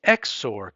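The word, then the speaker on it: XOR: P and Q and P X or Q is how we pronounce that is only going to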